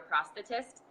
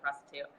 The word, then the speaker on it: prosthetist: is determined by your prosthetist. Another word I had to learn how to use after everything went down. Obviously, if you say it wrong, it sounds like prostitute.